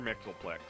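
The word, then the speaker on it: Mxyzptlk: I don't know, like, how do you pronounce his name? Mr. Mixelplix, yeah. Is that really pronounced Mr. Mixelflick? Yes, Mr. Mixelplix.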